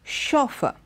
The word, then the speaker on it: chauffeur: first word the first word is the word chauffeur see the word is begins with the CH